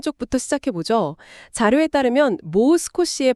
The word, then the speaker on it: もう少し: 자료에 따르면 모스코시의 발음은 모를 길게 끄는 모스코시입니다.이 장음이요.